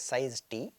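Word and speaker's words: size_t: C called size T right this is usually pronounced as size T right so it is basically the size underscore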